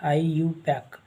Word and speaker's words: IUPAC: by iupac so so how to pronounce this iupac iu pack so selecting the the